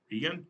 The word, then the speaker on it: Kagan: Is that how you say her name? I'm trying to figure out how you say her name. I keep forgetting how you say. Justice Roberts, Kagan. That's how you say her name. Kagan, Justice Kagan.